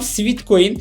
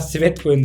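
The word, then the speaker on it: Sweatcoin: olursunuz Dostlar üçüncü uygulamam Sweet coin ya da sweat coin doğru telaffuzu yla sweat coin desem daha doğru olur Bu da aslında yürürken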